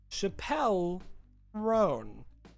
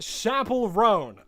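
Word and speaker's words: Chappell Roan: It's pronounced Chapel Roan. Okay, Chapel Roan.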